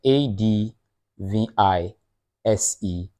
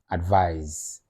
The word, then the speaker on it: advise: c e advise then a d v i s e advise advise so the z sound at the end canly pause the video